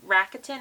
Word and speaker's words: Rakuten: This week we have a little bit extra because I did have a I'm going to say it wrong, Rakuten.